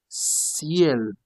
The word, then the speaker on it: ciel: You say ciel. Why do you pronounce it now C? Because you have E, becomes now ciel, ciel, ciel, that is sky.